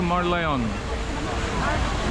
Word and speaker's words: Merlion: আর উপরে হচ্ছে লায়ন এর নাম হচ্ছে মার্লায়ন অনেকে মার্লিন উচ্চারণ করে সারা বিশ্বের বিভিন্ন প্রান্ত